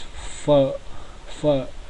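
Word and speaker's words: phở: is immediately right below the pH cluster is pronounces for first in fine example is for for now for is very famous Vietnamese dish so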